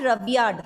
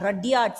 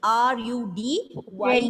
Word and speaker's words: Rudyard: Not Rudyard, Rudyard. See, look at the spelling. R-U-D-Y-A-R-D. Rudyard.